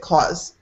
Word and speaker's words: clause: Almost like it sounds very much like the C-L-A-W-S, like a cat has claws. Click in the chat box, you can see it. Clause.